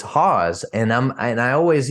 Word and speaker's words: Hause: attach our last name is so many people mispronounce it and they say it's house or what you know or Haas or whatever so it's Haws and I'm and I always you know uh